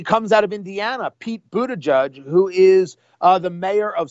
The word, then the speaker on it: Buttigieg: It's pronounced Buttigieg.